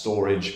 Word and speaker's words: Storj: now this is is actually going to be pronounced storage but um storage is a it's had a